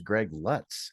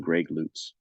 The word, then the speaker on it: Greg Lutz: Now, let me ask you this, because I thought for years it was Greg LUTZ, LUTZ, Greg LUTZ. But then I heard you on another interview say it's Greg LUTZ. Is that the correct pronunciation?